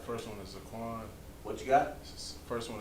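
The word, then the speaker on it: Zaqan: All right, first one is Zaquan. What you got? First one is Zaquan. Second one What is it? is Zaquan. Zaquan. Oh, you said Haquan. No, it's like Zaquan.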